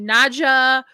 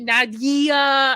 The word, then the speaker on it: Nadia: And I always give shit because people either call me Naja or they added E, Nadia. I'm like, it's Nadia.